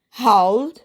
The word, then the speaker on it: howled: Okay, howl, howled, howled, howling, howls. Howl, howled, howled, howling, howls. ഇവിടെ എന്താണ് ED വരുന്നിട്ട് D എന്നുള്ള ഉച്ചാരണം തന്നെയാണ് വരുന്നത്.